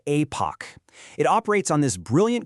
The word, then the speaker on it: Aepoch: Again, pronounced Apoch.